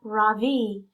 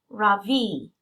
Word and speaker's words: Ravi: beam I say softly my voice quivering a little my name is not Ravi it's pronounced Ravi she smiles at me